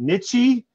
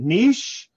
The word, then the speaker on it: niche: it niche is it nichey is it niche what do i say and i'm i'm literally i'm like driving down i'm like it's freaking niche dude just say niche for the love of